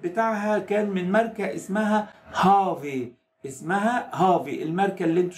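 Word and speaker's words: HAWE: بعض الناس بالمناسبة بتغلط في الاسم وتسميه هاوي او تقراه هاوي او كده على اساس انه بتقراه باللغة الانجليزية، بس نظرا لانه هو الماني وحرف الدبليو اللي هو في الانجليزية بنقول عليه دبليو في الالماني ينطق في، فتتقال هافي تمام.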